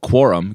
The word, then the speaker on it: Quorum: Morgan launching a project called Quorum, Quorum, just like you think it's spelled.